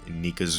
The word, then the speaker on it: Nika: I think earlier in the video I did say Nika's name wrong. I think I said Mika, I'm not sure. I just realized that, yeah, it is Nika, not Mika.